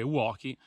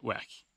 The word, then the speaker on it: wacky: e non Walkie probabilmente da alcune persone sentirete dire uochi non so perché in realtà in Italia si sia diffusa questa pronuncia errata Comunque sia sappiate che si dice weekly la pronuncia corretta è questa comunque annotazione a parte